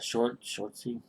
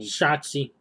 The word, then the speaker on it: Shotzi: Shortsy? Interrupted and... Shotzi.